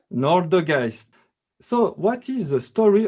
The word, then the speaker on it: Nårdegaist: So, what is a good pronunciation for Nårdegaist? Nårdegaist, tell me. Nårdegaist. Nårdegaist.